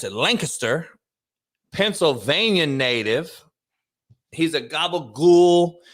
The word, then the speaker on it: Lancaster: He is a Lancaster, they pronounce it Lancaster, Pennsylvania native.